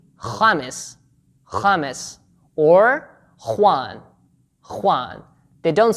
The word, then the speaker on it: Juan: The letter J in Spanish is pronounced as kha, like the name James, James, or Juan, Juan.